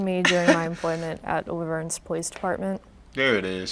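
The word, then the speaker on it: La Verne: That's not how you say it. It's Laverne.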